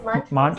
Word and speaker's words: Maanch: you've set up a global impact platform called Maanch. I mean, am I pronouncing that right first of all? Yes, Maanch platform in Hindi.